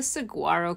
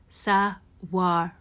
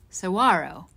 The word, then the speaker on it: Saguaro: of a cactus do you think of the sagaro cactus well it's actually pronounced saaro saaro Cactus and it's the biggest cactus in the